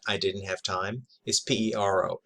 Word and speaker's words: pero: didn't have time is p e r o pero or pero more accurately you sort of flip the r the sound for um